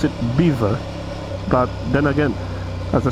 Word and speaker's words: Belvoir: Pronounced Beaver because, I don't know, the English took a perfectly serviceable French name and immediately decided that spelling was merely advisory. I don't know, because Belvoir, which is the actual name, anywhere else in the world, that's actually pronounced Belvoir.